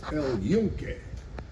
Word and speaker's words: El Yunque: Welcome to the National Forest El Yunque.